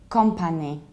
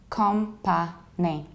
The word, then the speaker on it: company: I'm mostly here is company company and the thing is that we have to pronounce it like company company sort of happens we don't say calm but we say come and then you don't